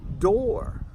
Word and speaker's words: door: Two common words that have the double O and are followed by an "R" sound almost like "O", "O" and that is "floor" and "door" "floor" "Door" Nowthere are a couple